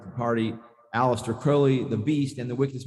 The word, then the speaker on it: Crowley: it's it's pronounced crowley it rhymes with holy crowley is brilliant crowley